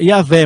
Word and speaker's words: Iavé: No hebraico a gente pronuncia Iavé, mas traduzindo, né, para o português é Jeová.